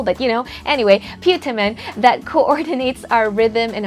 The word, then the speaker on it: putamen: our brain called a putamen or putamen, however you want to say that. Depending on where you're from, your accent, you may have put your accent on the wrong syllable, but anyway, putamen that coordinates our rhythm and our coordination skills.